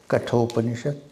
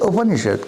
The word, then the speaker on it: Upanishad: The Upanishad consists of 3 syllables. The first one is Upa, second one is Ni, and the third one is Shad. Upa, Ni, Shad.